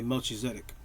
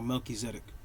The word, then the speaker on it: Melchizedek: where Abraham, right, meets a mysterious figure called Melchizedek. Some people say Melchizedek, right? Or Melchizedek.